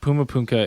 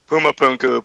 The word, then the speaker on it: Puma Punku: Puma Punka? I always think I say it wrong. Pumapunku, Pumapunku. Puma Punku. Puma Punku. Pumapunku. Yeah. Pumapunku. Puma Punku. Puma Punku. Okay, I got it.